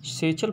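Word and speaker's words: satchel: With is सेचल, यहाँ पर इसका प्रोनाउंसिएशन जो है आप क्या करेंगे, सेचल प्रोनाउंसिएशन रखना है आपको इसका।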